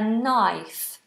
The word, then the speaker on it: knife: pies cut with a knife this K is silent so it's just an n Sound at the beginning piping hot these are